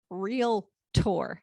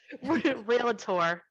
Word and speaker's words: Realtor: this is true you just can't call yourself real tour we don't pronounce it right anyway say it with me no you don't pronounce it right stay with me come on realtor nope no it is not real hey for